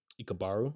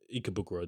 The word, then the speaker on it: Ikebukuro: And then so essentially, and so they're going from their hometown to this city called Ikabaru, I think this was called. I probably butchered the hell Ikebukuro. of Ikebukuro. There we go.